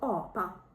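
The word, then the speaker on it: apa: є два варіанти вимови у першому варіанті вона буде звучати так як я тільки що сказала О І наприклад в нас є слово о па мавпа Опа або мат їжа Мот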